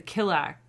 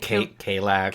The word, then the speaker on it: Kallax: we tell them like the structure is the Killax, is that how you say it? Kallax.